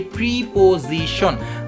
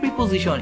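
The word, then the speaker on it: preposition: এবং দুঃখের বিষয় হচ্ছে এই ওয়ার্ডটাকে আমরা সবাই উচ্চারণ করে থাকি প্রিপোজিশন, but exact প্রোনাউন্সিয়েশন ইজ নট প্রিপোজিশন, ইটস প্রেপোজিশন, PRE, pray, POSITION, প্রেপোজিশন, প্রেপোজিশন, প্রেপোজিশন, প্রেপোজিশন, নট প্রিপোজিশন, প্রেপোজিশন, প্রেপোজিশন।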